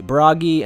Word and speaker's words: Bragi: I'm sure I'm going to be butchering all these pronunciations anyway. Let's start with Xehanort's classmates. The first two are easy, Bragi and Baldur.